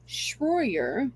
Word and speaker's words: Shroyer: Touch reports that Owen Shroyer my pronouncing s h r o y e r Shroyer yes uh he's an Infowars